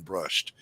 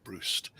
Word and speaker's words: Brust: I like Stephen Brust, or Brust. Let me say it right, Brust.